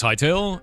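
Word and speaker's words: Hytale: What's Hightail? It's spelled H Y T A L E.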